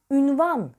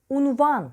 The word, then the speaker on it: unvan: okunmaz üniversite diye okunur unvan ünvan diye söylenmez unvan şeklinde söyleriz üslup üslup e kaldığı